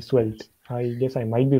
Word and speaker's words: Svelte: How do you spell that again, though? Svelte, Svelte.